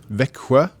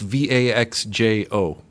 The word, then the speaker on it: Växjö: It's pronounced how? Växjö. Växjö, but it's Vaxjo, right?